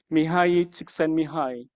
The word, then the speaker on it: Mihaly Csikszentmihalyi: proud that I can finally be able to pronounce the name correctly. Mihaly Csikszentmihalyi.